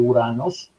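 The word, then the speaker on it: οὐρανός: Y el término uranos, aquí dice o uranos, pero esta o u no se pronuncia, es directamente uranos, refiere el cielo, es decir, la bóveda celeste, el lugar de los dioses, también el aire.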